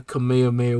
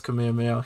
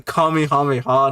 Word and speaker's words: Kamehameha: Goku firing off his Kamehameha he calls it the kamehamehan was just like bro that's so weird for you to do you know how to pronounce it why did you just do it wrong I'm sorry if you